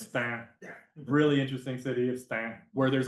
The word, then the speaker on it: Stains: to this cool project in the city of Stan spelled stains pronounced stamp really interesting city of Stan where there's like a huge huge population of